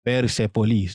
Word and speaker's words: Persepolis: Persepolis. That's how you pronounce it.